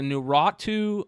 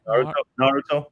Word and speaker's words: Naruto: There's a Nuratu or Naratu. Nar, how do you say that, Trey? Naruto.